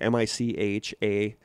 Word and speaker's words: Michaela: and she said that Michaela, I think that's how you pronounce her name. It's M-I-C-H-A-E-L-A. That sounds like Michaela. Yeah, that seems right.